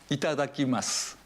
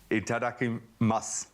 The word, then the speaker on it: Itadakimasu: Itadakimasu. Itadakimasu. So I notice when it's spelled with a U, masu, do you just say mas? You don't say the U? Yes. You kind of swallow the U.